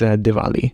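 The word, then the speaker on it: Diwali: culture no I think I pronounced it wrong is it diali or Dali it's Dali you pronouncing it correct but it's a w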